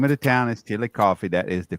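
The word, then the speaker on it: Chillicothe: a a little town in Ohio that's called chili coffee yes I know how to pronounce it correctly the name of the town is chili coffee that is the correct the way to pronounce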